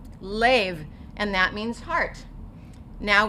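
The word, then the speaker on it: לב: Okay, now here we have the lamed with 3 points that are going to say A. So we're going to say lev, lev, and that means heart.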